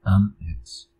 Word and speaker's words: IAMX: am ex o I am ex. Creo que la pronunciación correcta es am ex.